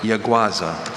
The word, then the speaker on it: yaguasa: Are there any alternate pronunciations? Yaguasa, yaguaza.